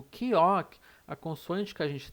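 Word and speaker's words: 기역: Mas na verdade, a pronúncia dela é de K ou G. K ou G. Por quê? Porque ela vai ter um som de K no início de uma palavra e o som de G no meio ou no final.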